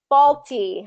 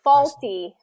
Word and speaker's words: faulty: I read that wrong faulty I was thinking faculty um faulty fall fall just like I fell I'm going to fall down fall T faulty faulty now